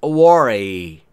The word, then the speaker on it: worry: Do not worry. Don't worry. Worry و تلفظ درست W در اینجا بسیار تأثیر گذاره. لب حالت لوله‌ای باید باشه. یعنی worry نیست.